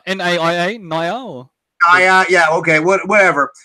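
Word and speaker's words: NAIA: How do you pronounce it? Naya. N-A-I-A. Naya.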